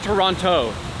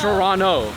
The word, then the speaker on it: Toronto: It's not Toronto. It's Toronto. Toronto. Come but there, on. Look, there's a T right there.